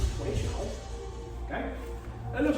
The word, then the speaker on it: Toui Shou: Qigong Tai Chi exercise called stick in hand or Toui Shou. You have to pronounce it Toui Shou.